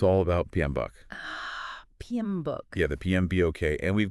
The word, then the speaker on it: PMBOK: and you know it's all about PM buuk PM book yeah the PMB and we've got uh that's